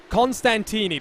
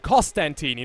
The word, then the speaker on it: Costantini: pronunciation guide as well constantini there's no end there at the start and i was very guilty of that of myself when i first started commentating costantini not constant td but i do the